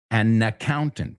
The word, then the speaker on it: an accountant: Y otra vez, accountant, si le ponemos el artículo delante, an accountant. Fíjate, la N va con la segunda parte.